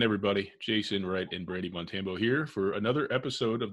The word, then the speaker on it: Montambo: everybody always stumbles over my last name, Montambo. It's like Rambo, not hard, but nobody. I said it wrong? Yeah, maybe a little bit. What did I say? Everybody says Montambo, which I did too, like when I first met him.